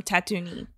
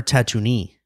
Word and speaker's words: Tatooine: bell and just plays the hottest Tunes from Tatooine Tatooine or tattoo knee is it Tatooine what Tatooine I've been they've